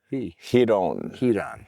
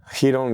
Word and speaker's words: Ryron: What did somebody say? The R is silent? And you politely said, no, it's not silent. It's he. Ryron. I like it. Who are you? Ryron Gracie, part of the Brazilian jiu-jitsu family, the Gracie family.